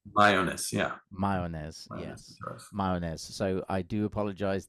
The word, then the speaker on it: Mayones: it's like a silent a right Mayes yeah mayones May so I do apologize that I didn't